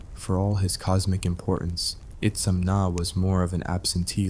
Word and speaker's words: Itzamna: Pronounced Itzamna if you want to sound like you've got your life together. Itzumna if you're aiming for extra confusion.